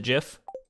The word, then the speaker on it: GIF: thing amongst cats the creator of of gift pronounced that jiff yeah but i mean like we can't be